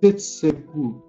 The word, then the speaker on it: shitsuke: And last 5 years is shitsuke. Shitsuke. Okay, that is sustain. Shitsuke is the Japanese word.